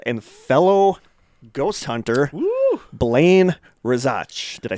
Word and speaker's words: Rezach: And we are joined by our friend and fellow ghost hunter, Blaine Rezach. Did I say that right? Rezach? Yeah, Rezach?